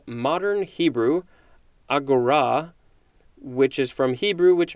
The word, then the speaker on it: agora: Second form of agora, looks like it is pronounced agora, with a little bit more emphasis on the r.